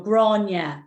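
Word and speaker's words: Gráinne: it's, yeah, because it's an Irish name, so it doesn't sound like it's spelt. So I can actually type a phonetic, and I think I can put it. Can we message each other on here? Usually you can, can't you? Here, right now. So if I go to chat, I'll type how to pronounce it. So this is the G-R-A-W-N-Y-A. So that's kind of the phonetic spelling of it.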